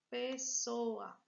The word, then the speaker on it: pessoa: Pessoa. E agora? Qual é a sílaba forte? O sou. Sou. Oxítona, paroxítona. Paroxítona. Certinho, meu povo?